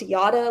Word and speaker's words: Jara: It is spelled Jara, but it's pronounced Yada, like yada, yada, yada.